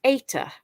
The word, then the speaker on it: eta: then we've got this letter here which is pronounced ETA ETA and it makes the sound a so